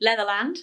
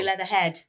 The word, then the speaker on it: Leatherland: How do you pronounce it properly? Leatherland. Leatherland. Yes. See, I paused in the middle. I know. Most people do Leatherhead. Leatherhead.